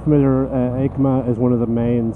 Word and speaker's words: EICMA: For those not familiar, EICMA is one of the main sort of shows